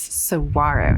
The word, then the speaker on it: Saguaro: I realize I've been saying it wrong that's Saguaro National Park there's over a hundred and seventy-five